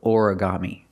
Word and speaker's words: origami: look at the word origami this is a Japanese word but we have an American pronunciation Ora Ora orami four syllables origami put the stress on the first syllable and the third syllable orami he's doing origami and